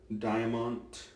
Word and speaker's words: Diamant: blade from Germany the chroma Diamont Diamont believe is how it's pronounced so you got a